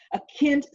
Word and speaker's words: kintsugi: it down because i always say it wrong akintsugi u g k-i-n-t-s-u-g-i and it's this pottery that